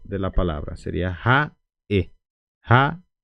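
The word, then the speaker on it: ha'e: ahora tenemos Ja e Ja e Ja e no van a confundir con ha Cuando tenemos esta apóstrofe en guaraní lo llamamos de puso que es también hace parte como si fuera una consonante entonces puso traducción de puso es sonido cortado corte de sonido corte de sonido Okay entonces por esos por eso decimos puso entonces por eso se corta el sonido de la palabra sería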